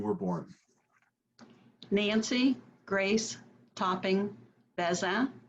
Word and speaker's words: Bazin: born nancy grace topping beza is the french pronunciation or if you want to anglicize it you can say basin and i was born